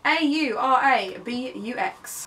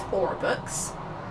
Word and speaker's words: Aurabux: A-U-R-A-B-U-X. Aurabux? I guess, yeah, Aurabux makes more sense than Aurabux. It's just B-U-X books, yeah.